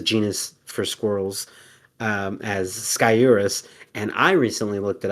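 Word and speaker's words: Sciurus: So it's actually uh surus or sorus and where the r where the r ends up in the emphasis and how you pronounce the first s or s is like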